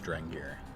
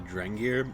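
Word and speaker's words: Drengir: also have the uh i think it's pronounced draenger the drengear sounds very like nordic which are these like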